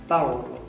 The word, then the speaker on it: Barolo: Barolo.